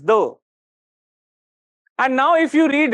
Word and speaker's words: Ye: was actually pronounced as okay so it was pronounced says the and now if you read it what it